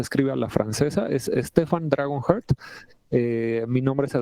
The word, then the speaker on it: Stephane: Se escribe a la francesa. Es Stephan Dragonhe.